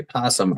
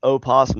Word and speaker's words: opossum: No, I would say that an opossum and a possum are two different animals. No, opossum is not pronounced opossum. It's still pronounced possum. The O is silent.